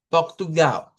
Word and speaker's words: Portugal: diríamos Brasil y Portugal, al final en vez de hacer una I, hago una U. Y digo Brasil, Portugal. Esas son parte de las cuestiones de los cambios que hay en los fonemas. Vea que se escribe una L al final, usted la pronuncia como U.